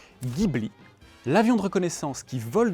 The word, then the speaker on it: Ghibli: La direction qui pointe vers ce bâtiment se prononce Gibla. Ainsi le vent du désert qui souffle dans cette direction s'appelle Gibli.